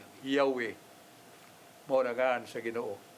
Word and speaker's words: Yahweh: Kanang eye as eye asker, eye, ang third person ana, upat ra ka letra, JHBH. Mo na ma-pronounce na siya Yahweh. Yahweh.